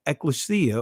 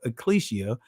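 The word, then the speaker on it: ekklesia: when we go to the Greek Ecclesia or Ecclesia however you want to pronounce it it says here uh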